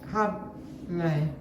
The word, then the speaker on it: hable: Habla, Oh, hable. So you just got me now, don't? I know the H is silent.